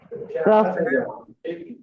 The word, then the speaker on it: rough: Rough. Rough. Rough. Rough. Rough. That is uff. Uff. Rough. So here O-U-G-H is pronounced, the sound is uff.